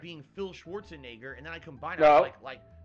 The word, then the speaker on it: Schwarzenegger: Schwarzenegger, who's the main character of the game. Oh, there you go.